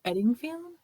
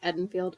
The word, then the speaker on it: Eddingfield: We're going to England, to Eddingfield? Is that how you say it? Yeah, I think so. Like Edenfield. I don't think that there's a G.